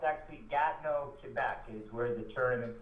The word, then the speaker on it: Gatineau: It's actually Gatineau, Quebec, is where the tournament's held.